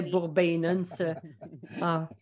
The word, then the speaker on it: Bourbonnais: dernières années où enfin la prononciation de la ville Bourbonnais ça plaît bourbenas alors on se dit